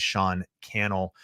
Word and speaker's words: Cannell: if you joined late my name is sean cannell rhymes with youtube channel this has been the